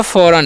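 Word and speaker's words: foreign: आगे भी यहाँ पर जी साइलेंट ही बड़े वर्ड ही है, तो ध्यान से पढ़िएगा आप लोग, ध्यान से देखिएगा क्या लिखा हुआ है जी। ठीक है, तो लिखा फौरन। इसे क्या पढ़ते हैं? फौरन।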